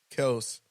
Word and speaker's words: Kelce: Motherfuckers been calling him Travis Kelsey his whole and that's what they said. career. They've been saying it wrong all along. It's actually Kels.